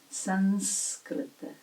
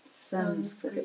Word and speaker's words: Sanskrit: We're using that N because it is closer to N in our North Indian pronunciation. Sanskrit. Sanskrit.